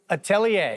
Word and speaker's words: atelier: ministry, the Gagneau Atelier, no, how do you pronounce it? Atelier.